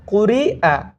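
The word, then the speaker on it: قُرِئَ: হামজা যে শব্দের বা যে হরফের উপরে হামজাটা আসবে সেই তখন শুধু হামজার উচ্চারণ আসবে, নিচে যে হরফটা থাকবে সেটার উচ্চারণটা আসবে না, সেটা লেখায় আসবে কিন্তু উচ্চারণে বা পড়ায় আসবে না।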